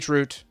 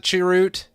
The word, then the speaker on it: chroot: I'm saying chroot. No, we got another chroot. Prime calls it chiroot. Damn it, Prime. Stop smoking that devil's lettuce. Ch root is the proper way to say it, guys.